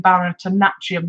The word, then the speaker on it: Bharatanatyam: Priya Sundar, who is the artistic director, she's an Indian Bharatanatyam dancer, I believe is the correct pronunciation of that.